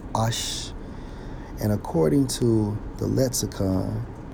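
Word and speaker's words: אֵשׁ: And to prove that point, when we examine fire in the Hebrew 784, pronounced as Ash.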